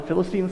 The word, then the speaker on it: Philistine: on the on the philistine side thought by the way i think the proper pronunciation is philistine like you put the em emphasis on the different salable philistines but i can't do